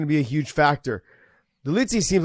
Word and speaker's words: Dolidze: Dolidze, yeah.